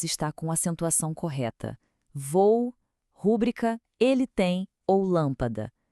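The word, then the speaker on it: rubrica: Vou perdeu o acento com o novo acordo ortográfico e a pronúncia certa é rúbrica, sem acento nenhum.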